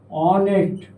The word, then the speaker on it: honest: say for example home honest honest honesty. Next one. Honorable. Honorable. You see these three words home, honored, honorable. While pronouncing words beginning with H letter. While pronouncing these words, H is silent while pronouncing pronouncing.